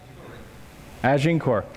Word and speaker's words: Agincourt: And I learned of a place in France called Agincourt. Am I pronouncing that right? Agincourt, thank you.